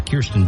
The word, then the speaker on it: Kirsten: but the new one out this weekend is Kiren D did I say her name right Kirsten yeah yeah right uh she's in Civil War